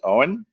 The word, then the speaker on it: Owen: My name is Owen. It's pronounced exactly the way that it's spelled, a silent E in 2 syllables.